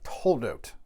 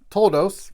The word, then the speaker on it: Toledot: We are now in Parashat Toledot, or Toldos, if you prefer an Ashkenazi pronunciation.